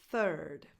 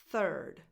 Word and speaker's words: third: Third. You start with a voiceless th as in the word think, and then you have the same vowel sound that you have in first. Third.